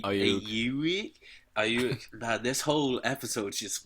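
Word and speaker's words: Aiyuk: Ayuk. Ayuk? Ayuk. Man, this whole episode's just me not being able to pronounce names.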